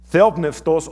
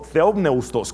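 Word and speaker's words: θεόπνευστος: Y esa palabra griega es theopneustos o theopneustos, como algunos lo pronuncian, y es la única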